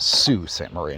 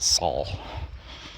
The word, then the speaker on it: Sault Ste. Marie: Uh I heard somebody yesterday refer to that town and they pronounced it Sue St. Marie, not not Saul, which isn't too surprising.